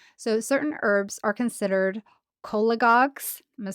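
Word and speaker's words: cholagogues: So cola like C O L A. And then goss but with a G.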